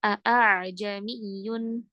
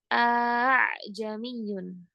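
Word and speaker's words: أأعجمي: Atau bacaannya seperti alif a jamiyun. Enggak juga. Tapi bacanya samar antara itu. Bacanya gimana? Ajamiyun. gitu bacanya jangan lama-lama ya, jangan sampai dua harakat a jamiun enggak nanti jadi kayak alif yang betul kalau ana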